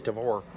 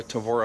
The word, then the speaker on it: Tavor: I saying it right he says Tabor I say Tavor I know either way Ted of atad oh